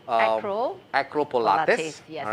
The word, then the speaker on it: Pilates: And it's called Acro Pilates. Yes. All right. Thanks for pronouncing it correctly, because a lot of people say Pilates, Pilates. Pilates, Yeah, because Pilates. Pilates like Pilates on a pole.